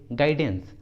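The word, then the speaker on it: guidance: ठीक है, अगला एग्जाम्पल देखिए गाइडेंस, गाइडेंस, इस इंग्लिश वर्ड में भी यू जी के बाद आया है और वावेल आई के पहले आया है, तो इसलिए यहाँ पर यू साइलेंट है, इसलिए सही उच्चारण होगा गाइडेंस, गाइडेंस।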